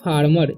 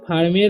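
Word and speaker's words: farmer: यहाँ पर इसे फार्मेर नहीं पढ़ना है, इसे पढ़ना है फार्मर। ई का उच्चारण भी यहाँ पर अ हो रहा है, ठीक है।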